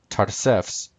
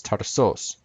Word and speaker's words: Tarsus: One way to say the word is Tarsefs, and another way to say it in Greek is Tarsos, depending on how you want to say it.